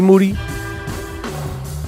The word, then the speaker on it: Moody: here with co-host moody yep last name rhymes with duty always can't change that